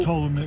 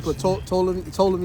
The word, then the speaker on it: Ptolemy: Ptolemy. Yeah, Ptolemy, it's like Ptolemy. That's niggas say pronounce the P.